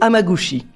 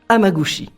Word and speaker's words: Hamaguchi: En tout cas, le nom de famille je le connais, c'est Amagushi. Amagusi.